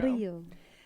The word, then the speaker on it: Rio: Rio. Is how it's pronounced.